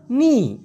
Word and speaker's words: ini: তো bagi semua ini এই কথাটা ওরা বেশিরভাগ সময় এভাবে বলে bagi semua ni, bagi semua ni। অর্থাৎ এই semua এটাকে উচ্চারণ করে semua এরকমটা, ইনিকে ছোট করে বলে নি, বাগি তো বাগি থাকে,